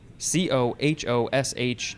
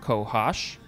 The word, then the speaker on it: cohosh: right next is cohash c-o-h-o-s-h noun from 1789 any of several north american medicinal or poisonous plants as a the black cohosh i guess it's cohosh i want to say cohosh but it's kohash b the blue cohash